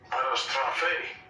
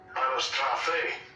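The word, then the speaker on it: anastrophē: So when you click on this word, let's get the pronunciation in the Greek. Strong's G391. Anastrophe. Anastrophe.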